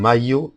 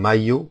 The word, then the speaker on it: maillot: ILL becomes pronounced as a Y. Examples are un maillot de bain, a bathing suit, un maillot de bain.